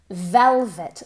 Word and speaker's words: velvet: Velvet. Listen carefully. V, v, v. Moviendo las cuerdas vocales.